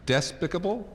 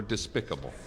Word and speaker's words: despicable: why he chose us how about the word that's very variously pronounced desk despicable or despicable everybody I think you guys were divided I don't know how about it but I say Despicable but despicable but I may have voted despicable just because I thought